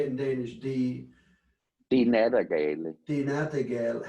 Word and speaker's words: Nattergale: the Nattergale.